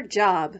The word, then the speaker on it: Job: Ruth shouts 1, 2, whee before going off to her job, which in the Bible is pronounced Job.